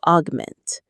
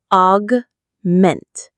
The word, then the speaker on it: augment: The goal then is not to replace but to augment. Let's look at this verb. Augment. Augment. The stress is on the second syllable.